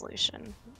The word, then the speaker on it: Lucian: I say Lucian because it's funny. Why? But it's Lucian.